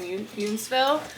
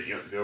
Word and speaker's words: Yountville: where we are in Yountsville. Because I just thought it's really pretty. Well, I'm pronouncing it wrong. You said Yountsville. It's either Yountville or Yountville.